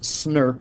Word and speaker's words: snRNP: Today's code word is SNRP, and even though it's pronounced SNRP, it's actually spelled SNRNP.